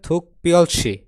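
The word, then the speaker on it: 특별시: মানে হচ্ছে বিশেষ শহর এর উচ্চারণ হবে থুক পিয়লসি এই বিপরী উচ্চারণ হবে প এখানে একটা বাসিমের রুলস আছে আপনারা যারা বাসিমের ক্লাস করছেন তারা বিষয়টি জানেন ওকে তাহলে থুক পিয়লসি মানে হলো বিশেষ শহরের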